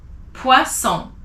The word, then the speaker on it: poisson: And if it's two S, you say son. So two S makes the sound S, poisson.